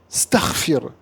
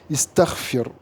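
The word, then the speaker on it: استغفر: Et donc, un arabe un vrai arabe pourrait jamais dire staghfir. D'accord? Et pour pallier à ce problème, on met là, il faudra mettre un hamz al-wasl qu'il faudra prononcer quand on commence par ce nom et qu'on ne prononcera pas si, hop, on fait une liaison. Donc, ça devient istaghfir.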